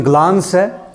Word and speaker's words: glance: ग्लांस, इसको आप pronounce कर सकते हो, ब्रिटिश प्रोनाउंसिएशन ग्लांस है.